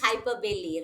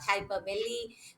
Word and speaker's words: hyperbole: alliteration hyperbole very high it is hyperbili pronunciation is hyperbailey right okay we have hyperbolic hyperbaric hyperbolic yeah hyper belly that is the pronunciations